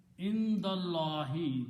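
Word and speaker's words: عند الله: And when you pronounce, you don't pronounce this alif in between. Indallahi becomes hamzatul wasl. Indallahi, with Allah.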